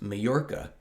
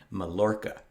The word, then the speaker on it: Mallorca: spelled m-a-l-l-o-r-c-a it's pronounced majorca because in spanish the double l makes a y sound but from the spelling it looks to an english speaker like it could be pronounced melorka however that's not correct